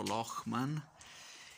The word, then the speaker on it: Lochman: buona locman rock ma ecco amy insegnano a pronunciarlo locman con quella intervista abbiamo